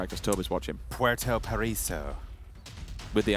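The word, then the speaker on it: Puerto Paraíso: Puerto Paraiso. With the accent? Puerto Paraiso.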